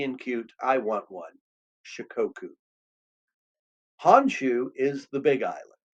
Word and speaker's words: Shikoku: Shikoku.